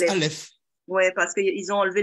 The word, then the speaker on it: Alep: Alep. On dit Alep, mais ça se prononce Aleph.